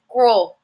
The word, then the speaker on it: gros: gross l a gross so again listen to this pronounce iation the masculine is grow the feminine is gross mu mu if I